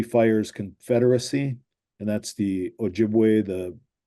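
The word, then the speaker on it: Ojibwe: for chipa yeah um chipa was like a m mispronunciation of a jibway um and ojibway um we call ourselves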